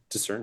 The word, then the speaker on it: discern: bit, give me a discern test. Alrighty. You ever think why you don't pronounce the C in discern?